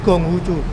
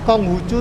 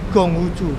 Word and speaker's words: Konghucu: Konghucu ya kamu juga Jadi sebetulnya pelafalannya Konghucu Jadi bukan konghuchu tapi Konghucu Gong gay tapi tulisannya